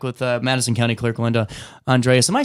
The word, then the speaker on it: Andreas: You know, he goes, it's Andreas. Oh, dang it.